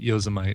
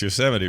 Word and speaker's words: Yosemite: get relentless teasing from my uncle because I pronounced Yosemite Yosemite. Oh, really? Yeah. Yeah. Well, see, and I know it's Yosemite, but my friend's such a dingleberry.